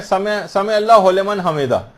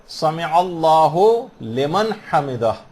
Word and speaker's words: سمع اللہ لمن حمدہ: عام طور پر لوگوں کو دیکھا گیا سمع اللہ لمن حمدہ یہ پڑھتے ہیں، اس کو ہو لمن نہیں ہے، سمع اللہ لمن حمدہ. اس میں عین بھی آ رہا ہے،